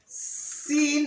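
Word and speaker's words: سين: So Sin is pronounced the same way as S. And how is S pronounced? Snake. Like S in snake.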